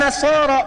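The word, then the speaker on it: النصارى: Cuman kita bacanya pakai e kan alif lamnya syamsiyah tuh ya. Lamnya masuk ke nun. Walan nasaro.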